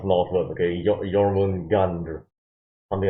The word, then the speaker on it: Jormungandr: I don't know how to pronounce Norse words, okay? Jormungandr, something like that.